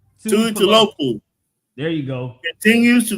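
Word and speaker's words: Tuipulotu: Tuli Tapalopo? Did that say? No, you just exited yourself, bro. No. What's not his name? how I you said say his name, bro. It's you better not. it's Tui Pelotu, and I hope the Chargers staff hear me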